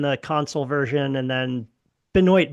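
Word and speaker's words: Benoit: And then Benoy Benoy Benjamin, not Benoa Benjamin. Right. Yeah, Benoy Benjamin. Benoy Benjamin. Yeah, I was about to say Benois Benjamin that I immediately remembered. I haven't pronounced that name out loud in Yeah.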